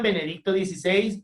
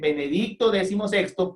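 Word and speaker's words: Benedicto XVI: benedicto 16 los que decían benedicto 16 lo decían de forma errónea en la fonética se dice benedicto decimosexto porque es la decimosexta persona que toma ese nombre atentos por favor no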